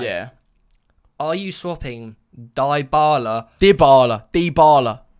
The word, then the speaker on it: Dybala: It's not Dybala. It's die. Dybala. How do they pronounce it in Italian? In Italian, Dybala. Dybala. He's Argentinian. Yeah, but in Italy they pronounce it Dybala. If he's Argentinian, it's definitely Dybala. Dybala.